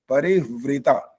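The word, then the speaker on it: परिव्रता: हूं सुनो परि वृता स्पेलिंग सुनो प र में छोटी ह आधा है व व में नीचे ऋ परि व्र ये बन गया आगे त में आ की माता परि व्रता हां जी यही बोला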